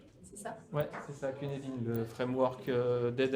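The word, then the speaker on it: Cynefin: Ouais, c'est ça, Cunedin, le framework d'aide à la décision, d'aide à la prise de décision. Donc c'est gallois, c'est pour ça que ça ne prononce pas du tout comme c'est écrit.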